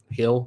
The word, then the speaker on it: Gil: Luis Gil, maybe. Hill, sorry, pronounced his name wrong. Luis Hill, maybe.